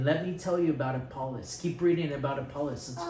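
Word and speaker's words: Apollos: okay a apoll apollis how many syllables three syllables who's apoll that's that's one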